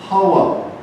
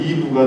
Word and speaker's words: 하와: 아담아가 되고 그 다음에 이샤였던 이 여자는 이름을 또 받는데 그 이름은 하와. 이걸 영어식으로 표기하면 이브가 됩니다. 그러니까 음가의 차이예요. 똑같은 거예요. 근데 히브리에서는 그걸 하와라고 발음하고 영어에서는 그걸 이브라고 발음합니다.